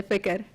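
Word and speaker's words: ፍቅር: Say fikr. Why is that a S? How you spell that?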